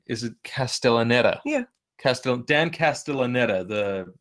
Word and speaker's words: Castellaneta: um let me like see if I can pronounce this correctly is it castellaneta yeah cast Dan castellaneta the the voice actor